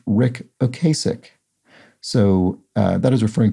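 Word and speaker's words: Ric Ocasek: points out while i'm here the uh it's pronounced rick ocasic so uh that is referring to rick okasek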